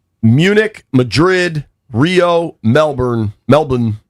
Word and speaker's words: Melbourne: Melbourne is how they pronounce it. I feel like a fool when I say it without the Australian accent, but here we are.